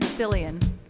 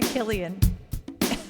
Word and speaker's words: Cillian: Cillian Murphy Cillian Killian I just said Cillian I don't think that's how you say his name it's probably Killian I don't know yeah